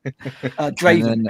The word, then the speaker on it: Draven: Craven which is stupid Draven Eric Draven yeah yeah Eric Draven There You Go Eric Draven there you go it's like because it rhymes with Raven so I'm gonna call